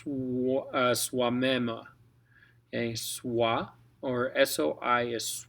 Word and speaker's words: soi-même: Now, oi makes a we kind of sound. Or in this case, soi-même. Okay, soi, or soi is soi in this case, soi-même.